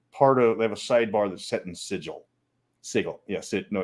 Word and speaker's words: sigil: sidebar that's set in sigil sigel yes it know it's sigo it's hard g the if i'd say